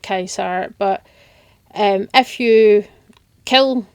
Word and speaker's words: Caesar: come and speak to Caesar or Kaiser um he pronounces it Kaiser but um if you